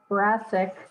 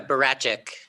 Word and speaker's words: Barasic: Barasic. Am I pronouncing that right, Barasic? It's a Barachik, as if it were a CH almost.